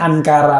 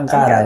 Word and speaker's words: Ankara: dan tidak ada murka Hah tepatnya ankara tapi kita bacanya Angkara nyata suaminya penontonnya jadi-jadian